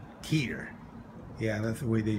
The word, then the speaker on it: Tyr: this is our first morning here in uh tier tier yeah that's the way they pronounce it this is the little city the